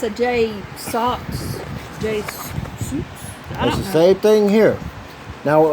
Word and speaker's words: JSAUX: price with the Jays what it how you pronounce it Jay Sox Jay Sox but I bought mine back in